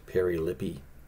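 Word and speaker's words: περιλείπομαι: It's Strong's number 4035, and it's pronounced perilippi.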